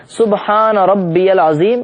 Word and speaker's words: سبحان ربی العظیم: پڑھتے ہیں وہ سبحان ربی العظیم، اس کا تلفظ بھی صحیح ہونا چاہیے، سبحان ربی العظیم۔ یہ سنت یہ کہ ہم کم سے کم